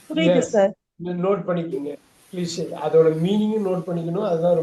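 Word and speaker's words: cliché: சார் கிளிட்ச். கிளிட்ச் வந்து அப்படி சொல்லக்கூடாது. பாருங்க, Cliche. கிளிஷே போட்டுங்க. கிளிஷே.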